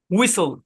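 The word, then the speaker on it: whistle: আরেকটা উদাহরণ দেখি যেমন ডব্লিউ এইচ আই এস টি এল ই এখানেও টি সাইলেন্ট শব্দের শেষে আছে এই শব্দের উচ্চারণ হচ্ছে উইসোল উইসোল মানে এরকম উই এখানে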